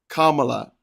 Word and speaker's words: Kamala: Also, the VP's name is pronounced Kamala, not Kamala. Think calm, as in being calm and not being agitated.